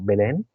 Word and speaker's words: Belén: pasó en en Belén no sé cómo se dice en castellano Belén Belén Belén Belén ah Belén se encontraban en Belén en italiano decimos betleem o betleem vale se encontraban todos